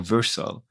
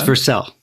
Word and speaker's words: Vercel: as a CTO for virtual um did I pronounce it correctly with this it's for sale very flexible okay so